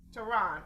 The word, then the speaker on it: Tehron: we don't mispronounce it it's toronto like the capital iran tehran okay okay well thank